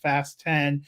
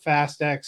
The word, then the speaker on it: Fast X: I love that the Press agents for the studio sent us a thing it should be pronounced fast 10 and not fast X switch I saw that